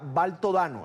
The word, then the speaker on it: Baltodano: Quiero agradecer a Mónica Baltodano, allí está el apellido correctamente pronunciado, excomandante guerrillera, fue miembro de la Dirección Nacional del Frente Sandinista de Liberación Nacional, además es historiadora.